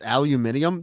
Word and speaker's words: aluminium: We'd be saying aluminum wrong, all right, if it wasn't for them. True. That's not going to make any sense. Aluminium? There's like the syllable to letter ratio is off there.